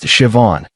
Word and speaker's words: Siobhan: Her name was Siobhan, pronounced Siobhan.